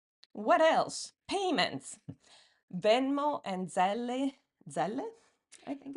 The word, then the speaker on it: Zelle: Venmo and Zelle, I think it's I think in America they say Zelle, and I've Zelle. always said Zelle because that's how Okay, it would be pronounced in Italy.